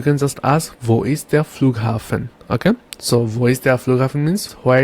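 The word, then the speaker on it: Flughafen: means train station and then we have the flugen the flugen the flugen means airport and then we have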